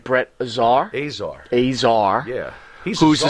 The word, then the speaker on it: Azar: make sure i'm saying it right brett czar azar azar yeah he's who's the star that makes